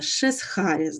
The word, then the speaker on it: Шесхаріс: Я вибачаюсь, там здається я неправильно його вимовила попередньо, але запам'ятайте шезхаріс, да, таке от не наша